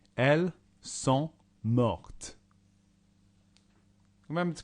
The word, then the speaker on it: morte: add an E, and when you add a vowel to the end, that means you say the last consonant. Elle est morte.